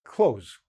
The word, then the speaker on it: clothes: It sounds like close, close the door, wear clothes, sounds exactly the same. And again, the phonetic with the O there, K and the Z, we don't have the TH because we don't pronounce it. So most words that have a TH and an S very close together, we generally just basically squeeze them in into a t sound or a z sound, okay?